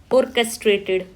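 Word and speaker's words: orchestrated: Second word है ऑर्केस्ट्रेटेड। Right? इसको chess नहीं पढ़ना आपको। और चेस और चेस्ट्रेटेड नहीं औरकेस्ट्रेटेड राइट इसीलिए मैंने यहां पे प्रोनंसिएशन मेंशन भी की है।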